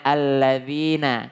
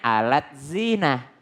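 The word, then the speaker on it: الَّذِينَ: pakai deh terus Z Nah harusnya bacanya alladziina Kalau orang salah baca deh bilangnya alat zinah nah alat zina amanu makanya penting untuk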